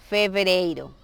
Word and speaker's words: fevereiro: Entonces, fevereiro. Y siempre tratar de pronunciar bien la V.